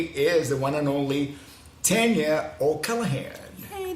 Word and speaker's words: Tanya: the one and only Tanya O'Callaghan. Hey, thank you for saying my name correctly with the A.